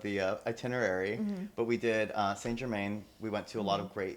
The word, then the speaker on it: Saint-Germain: How do you pronounce it? Saint-Germain.